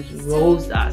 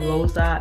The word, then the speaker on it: RoSa: name that I use, RoSa. So I'll be pronouncing it RoSa and sometimes RoSa. All the same thing. You can pronounce it RoSa or RoSa. It doesn't matter.